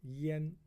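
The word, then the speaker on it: 殷: this is in now this one has another pronunciation called Yen okay Yen now when you have when you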